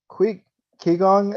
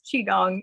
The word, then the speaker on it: Qigong: Heather Anacker is a zinester, artist, seamstress, and aspiring Qigong instructor. What? I'm sorry, I am totally mispronouncing that. What's You're all good. It's Qigong. It's Qigong? pronounced very differently than how it's spelled.